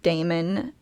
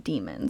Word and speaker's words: daemon: origin um and then early English started pronouncing a as in Daemon and sort of pronouncing it e as in Demon so that's kind of